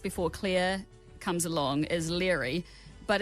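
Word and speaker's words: Laoghaire: your love interest before clear comes along as leery but it's spelt pretty much Lego here if people have read the books and they'll know but I mean seriously how do you get leery from la geo H AI R a it's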